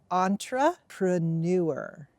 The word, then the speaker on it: entrepreneur: learning English is that it comes from a French word so now not only are you learning English sounds but also French sounds so again it doesn't